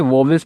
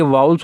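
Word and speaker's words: vowels: कुछ बच्चों ने इसे वोवेल्स पढ़ा होगा, तो गलत प्रोनाउंसिएशन, अभी तक हमने चीज़ों को समझा है, उसे आपको ठीक करना है। ठीक करने का ही नाम लर्निंग होता है। तो ये वाउल्स होता है और ये कॉन्सोनेंट।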